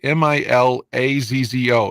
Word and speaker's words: Milazzo: to mispronounce his name it's spelled m-i-l-a-z-z-o is it milazzo and I guess yeah